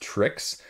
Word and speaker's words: 3KSES: A different game here launching on the 31st, and this is actually pronounced Tricks. 3KSES, a combination of 3 games and tricks, they say.